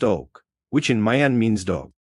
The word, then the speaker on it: Oc: This purifying function is conoted by white OC pronounced oak which in Mayan means dog like the dog.